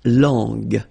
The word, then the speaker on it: langue: Okay, so you get to put this U between the two to get the sound G. So you get la langue.